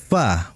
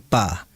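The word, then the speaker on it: ف: ya bukan bibir sehingga dia harus dibaca Fa bukan Pa itu yang harus diperhatikan kemudian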